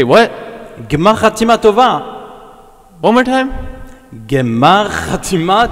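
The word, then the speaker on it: גמר חתימה טובה: Gmar Chatima Tova. One more time. Gmar Chatima Tova. Gmar Chatima Tova.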